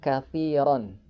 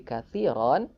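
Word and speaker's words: كَثِيرًا: Sekali lagi ketika kita berhenti di huruf yang berakhiran fatahin maka cara bacanya fathah tain tersebut diganti menjadi fathah dan dipanjangkan dua harakat.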